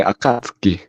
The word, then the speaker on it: Akatsuki: it's from Naruto so in Japanese the U is silent apparently that's how you say Akatsuki that's how you're saying